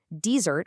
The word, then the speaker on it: desert: Desert, with a stress on the first syllable, is the dry, sandy place.